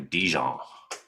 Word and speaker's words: Dijon: I think you're supposed to like pronounce the J, like a Dijon.